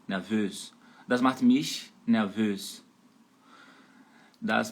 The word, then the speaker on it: nervös: Lembrando que a sílaba tônica, onde você vai dar ênfase, é por último, né? Então, nervös, nervös.